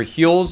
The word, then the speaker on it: Huel: Heel is balanced with 40 g of protein and 27 different essential vitamins and minerals to help you reheal. Get it? Cuz uh cuz it rhymes with fuel.